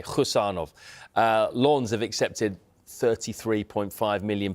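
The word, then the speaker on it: Khusanov: It's a silent K, Husanov.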